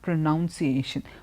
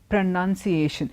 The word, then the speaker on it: pronunciation: But when you take it on to a noun form, it's pronunciation. It's not pronunciation. Pronunciation. Even the spelling is different, and you don't say pronunciation, you say pronunciation.